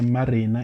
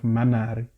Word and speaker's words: Manari: I called her Marina instead of Manari.